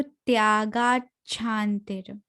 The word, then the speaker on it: त्यागाच्छान्तिर: हाँ, त्यागाच, यहाँ पर अधचा है तो त्यागाच्छान्तिर। Okay ma'am. बहुत सुंदर, आप बहुत अच्छा गाते हो। ओ थैंक यू मैम। आपका प्रोनाउंसिएशन बहुत क्लियर है।